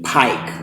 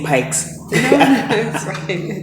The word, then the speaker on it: Pike: her name is stephanie pike like every time i like i would always uh say your name wrong say pikes yeah we are still